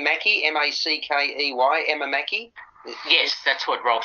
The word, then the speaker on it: Emma Mackey: writer and poet a role Phil do you pronounce her name Mackie m-a-c-k-e-y Emma Mackey yes that's what Ralph said yeah yeah okay